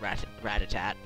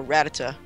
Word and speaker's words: Rattata: You're gonna send at least I'm not like Eric, who says rat-a-tat. That's what he calls Rattata. Rattatat. Just get rid of that ending T, and there you go, Rattata.